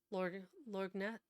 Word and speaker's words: lorgnette: see her daughters kneeling, and who dropped her lorgnette. Oh, I already forgot how to pronounce it.